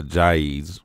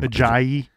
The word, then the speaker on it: Ajayi: So Ajayi's, right? That's how you say his name. Ajayi.